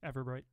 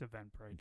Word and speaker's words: Eventbrite: Everbright or Eventbrite? Everbright. Say it right, Kip, so they go to the right place. Okay, it's Eventbrite.